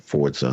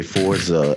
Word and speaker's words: Forza: time you picked up Forza Horizon 5. First of all, most people can't even pronounce it correctly. They say Forza instead of Forza.